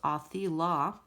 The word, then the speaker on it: Othila: Othila, pronounced Othila, is the rune of ancestors and family.